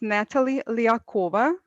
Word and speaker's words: Natalie Lihacova: My name is pronounced as Natalie Lihacova, and I have my own IT consultancy together with my technical partner, Andrew.